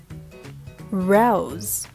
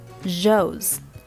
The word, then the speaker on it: rose: they also make mistakes the sound is r r if you have ever heard a foreigner say zhongguo they will sound like chongoran run so these are different so rose road not jos jode rose first you have to round your lips rose and then make sure that your tongue is in the very middle part of your mouth rose road right the kangaroos got